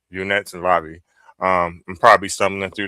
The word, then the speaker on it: unetlanvhi: This particular uh form of spirituality is pronounced unit lobby. Unet lobby.